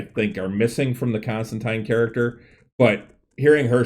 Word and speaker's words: Constantine: Is it Constantine or Constantine? And I read the article, and it coming from all the way from the creator Alan Moore, saying it is Constantine.